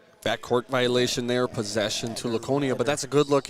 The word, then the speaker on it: Laconia: It's a hard C, Laconia. I thought so. Here I thought I was saying it wrong all these years, but Yeah, no, it's definitely Laconia, not Laconia, but that's all right.